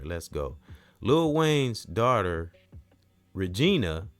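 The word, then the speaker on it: Reginae: Lil Wayne's daughter, Regina, I think that's how you say her name. R E G I N A E.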